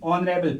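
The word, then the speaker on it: honorable: ऑनरेबल जो है ये ऐसे स्टार्ट होता है तो यहाँ पे एच को साइलेंट किया जाता है, तो इसकी साउंड जो है प्रोनाउंसिएशन जो है वो तो क्या निकलती है, वो तो वॉवेल निकलती है।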